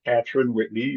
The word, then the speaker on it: Catran-Whitney: today's guest is keeper kaon Whitney and I hope I pronounced your name right tell me about that uh the last name is pronounced patn Whitney but you were very